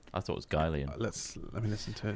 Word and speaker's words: Guylian: I'm It is past Guylian. Gulian. I don't know if it's Gillian, It's Guylian Guylian, because it's a combination of two people's surnames. Guy and Leon.